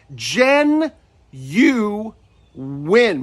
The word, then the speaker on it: genuine: a very common word it has three syllables the stress is on the first syllable and there's a hidden W right between the U and the I and we say it as Jen you win bring your lips forward on that W gen you win I